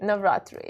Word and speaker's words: Navratri: Am I saying it right? Natri. Navatri. You got it.